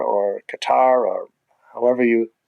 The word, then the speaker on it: Qatar: when I go there, they pronounce their country. It's not as Qatar and not as Qatar either, but it's something somewhere in the middle.